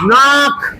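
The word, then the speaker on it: knock: এবার বলো K N O C K নাক। টোকা দেওয়া। নাক টোকা দেওয়া। কে চুপ চুপ চুপ। একদম চুপ।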